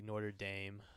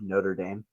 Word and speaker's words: Notre Dame: How do you say it? Notre. Notre. Like motor, but Notre.